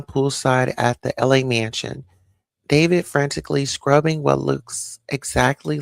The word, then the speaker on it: D4vd: So, David, but it's spelled like different. It's like D4 VD. So, D4 VD.